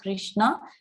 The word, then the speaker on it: Krishna: The words Hare, pronounced Hare, Krishna, pronounced Krishna, and Rama rhymes with Rama are Sanskrit words.